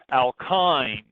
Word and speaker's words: alkynes: n e double bond alkynes the Y is pronounced like an i this is our third